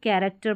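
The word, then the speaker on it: character: अब यहां पर इसको कैरेक्टर नहीं पढ़ते। इसको कैरेक्टर पढ़ते हैं।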